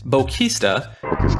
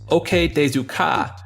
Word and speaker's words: OK desu ka: Thought by many players to be pronounced Bokista, this sound is actually the phrase OK Desu Ka.